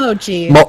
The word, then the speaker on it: mochi: It's either a mock or machi or whatever. However the hell that word is pronounced, it's a mochi. A matter. It's mochi. Okay, you get mochi now, so you get ice cream.